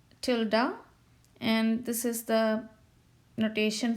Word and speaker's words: tilde: written as p tilde this is how we pronounce tilde and this is the notation for that as